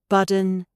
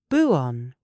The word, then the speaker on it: button: However, do use the glottal stop for words like button, cotton, and kitten. Listen to the difference. American, budden, codden, kidden. They use the D sound. British formal, butt-ton, cotangent-ton, kitten. We release the T.